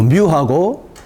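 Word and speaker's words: μ: 쓰게 될 텐데 요 뮤하고 이것은 읽을 때 뮤라고 읽어요. 제일 위에 것은 뮤. 뮤로 그리스 문자로 뮤라고 읽는데 이 부분은 평균을 나타내는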